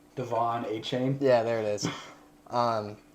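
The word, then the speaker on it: Achane: Devin I can never say his name Devon a chain yeah there it is um from Texas A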